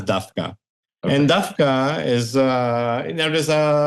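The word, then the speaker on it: דווקא: We say Dafka and not Davka.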